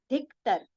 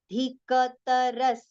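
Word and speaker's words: अधिकतरस्: Okay, so most of the times it is recited as dhiktar, but when we say dhiktar, ka becomes half, whereas ka is complete with the complete pronunciation. So how will we say? Dhikataras, dhikataras. Okay, it is not dhiktar, it is dhika, dhika.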